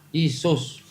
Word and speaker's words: IESVS: Ya, adanya apa? Isus. Diambil dari bahasa Latin. Tulisannya masih IESVS.